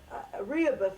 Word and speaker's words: Rehoboth: Rehoboth, I believe, is the correct pronunciation. It's a biblical name, Rehoboth, and you'll find it